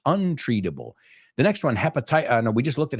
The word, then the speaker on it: hepatitis: You say hepatitis, right? La H lo pronunciamos. Hepa. Y los itis son itis in English. So bronchitis, conjunctivitis, hepatitis. ¿Ves un patrón ahí? Itis is itis.